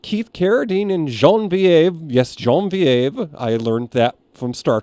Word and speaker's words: Genevieve: Yes, Genevieve. I learned that from Star Trek, how to pronounce her name.